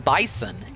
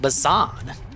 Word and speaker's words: Bison: Always wonder why they didn't call him Bison. They said they pronounce it bason.